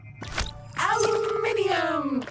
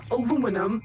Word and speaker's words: aluminium: Aluminium! Or aluminum, as Americans pronounce it incorrectly.